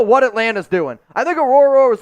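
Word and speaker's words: Orhorhoro: It's Rook Orororo.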